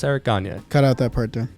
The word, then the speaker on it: Gagne: This was the last relief pitcher to win Cy Young, Eric Gagne.